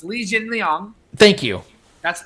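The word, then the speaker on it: Li Jingliang: get your thoughts on lingling uh fights fighting uh i think that's how he's pronounced his last name legioling it's it's a couple of couple things so it's lee jin liang thank you that's it's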